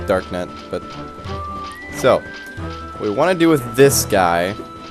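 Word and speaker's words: Darknut: I think it's pronounced dark nut, but so what we want to do with this guy is you can do one of two things.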